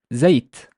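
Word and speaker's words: زيت: This one, the z has a fatha, the y has a sukun, and the t has a sukun because it's final. So I would pronounce it as zayt, zayt, zayt, zayt, which is oil.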